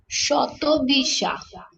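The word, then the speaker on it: শতভিষা: সোয়াতি আর সাতাবসিয়া শতবার নাজি আপু কি বলেন বাংলা উচ্চারণটা শতবিষা শতবিষা রাইট এটা বাংলা উচ্চারণ আমি হিন্দি পড়তে পড়তে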